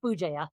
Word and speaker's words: Bugeja: Bugeja. Bugeja. I was afraid. Ooh, is it? I'm not gonna lie. I was afraid. I was like, yeah, I'm not gonna even try that. So it's Bugeja.